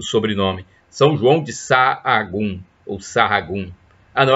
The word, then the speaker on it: Sahagún: Eu acho que a pronúncia é essa. Ele era espanhol. Então, é S-A-H-A-G-U-N, o sobrenome. São João de Sahagún, ou Sahagún.